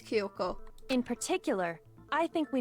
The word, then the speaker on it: Kyoko: have done those things kiyoko what is that pronunciation kyoko it's supposed to be kyoko not ki yoko what the [ __